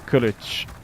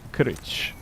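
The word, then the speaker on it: kılıç: It's pronounced, and I don't speak Turkish at all, but from what I understand, it's pronounced Kilij. Kilij.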